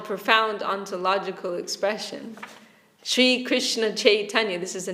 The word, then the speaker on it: Chaitanya: Sri Krishna Chaitanya, this is the name of Mahaprabhu, but it means Krishna consciousness. Because Chaitanya, I'm saying, the Bengalis will say Chaitanya. They don't pronounce the Y.